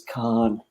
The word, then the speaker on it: Cannes: If you want to be posh about it, I guess it's Cannes. But for me, it's Cannes. It's Cannes.